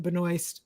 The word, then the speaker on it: Melissa Benoist: uh Melissa Benoist uh she pronounces it Benoist most people I know pronounce it Benoist but doesn't matter that